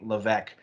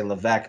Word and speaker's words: Levesque: main channel j levesque and the s is silent i know i say levesque there's an s in there i know that's confusing it's silent hi kita where do